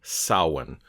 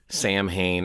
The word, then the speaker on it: Samhain: With that being said, when you have the M and the H together, it kind of makes a W sound. So that's why you get sawin, not Sam Hayne or saw Wayne, it's sin.